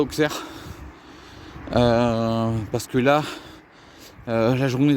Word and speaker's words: Auxerre: Alors, désolé pour la prononciation d'Auxerre. Je sais que c'est Auxerre. Et moi, je dis Auxerre.